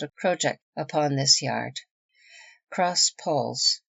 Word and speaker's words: crossjack: little ahead of her crossjack yard pronounced project yard the lower yard on